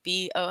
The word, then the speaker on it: Bookchara: pretty much everywhere at bukhara b-o-o-k-c-h-a-r-a and steve asked me about the pronunciation earlier people say it book chara and that's okay i don't mind um